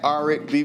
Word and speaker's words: Aric B: yep so everything at r b music so a r i c b music it rhymes with R&B so if you forget